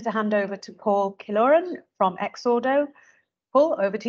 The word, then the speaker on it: Killoran: I'm now delighted to hand over to Paul korin from exodo Paul over to you great stuff hi everybody um thank you for pronouncing my name correctly most people make AES